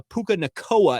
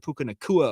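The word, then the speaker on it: Nacua: Lorenzo fawatoa instead of fawatea we had a puka nikoa instead of Puka nakua at one point in that game and then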